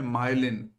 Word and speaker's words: myelin: कभी भी आप द टैलेंट कोड किताब को अगर पढ़ेंगे, वहां पर एक वर्ड दिया गया है, उस वर्ड का नाम है माइलिन।